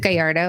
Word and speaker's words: Gallardo: is it Gallardo? Is that how you say your name? That's the proper way to say it, but I can't even say it like that. I just Gallardo.